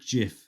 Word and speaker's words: GIF: work on now is your pronunciation of GIF you say GIF GIF yeah like the old bath cleaner yeah um so the